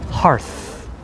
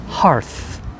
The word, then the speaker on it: hearth: like hearth um it it sounds like the word heart only with th so hearth hearth please say it with me hearth whenever i hear the